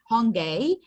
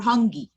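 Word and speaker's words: hongi: have a greeting called hungay okay or hungi hungay or hungi okay both pronunciations are correct hungi or hungay one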